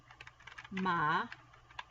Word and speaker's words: ma: it all means but in order to say my there are three ways and it is ma or may that's how you pronounce them the next line